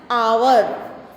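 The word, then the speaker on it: hour: तो यहाँ पे हम बोल रहे हैं आवर, इसको हॉर नहीं बोलेंगे। ये जो एच है ना ये साइलेंट है, ठीक है, तो ये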